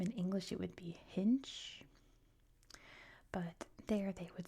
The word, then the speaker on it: Hinche: This is, since they speak French in Haiti, this is pronounced Hinche in French. I assume in English it would be Hinche.